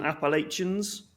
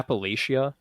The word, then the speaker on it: Appalachia: say up near you yeah Appalachia Appalachia that's it yeah yeah as opposed to Appalachia yeah so there's there's